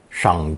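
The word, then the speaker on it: 赏: no use for money this character is pronounced third tone Shang Jin is monetary reward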